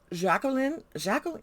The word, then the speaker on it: Jacqueline: Jacqueline, you had to pronounce the Q. Her mother was very specific about having to pronounce the Q. It's not Jacqueline, it's Jacqueline.